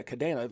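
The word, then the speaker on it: Kadena: there it is right there kadana yeah kadana that's how you say it so that was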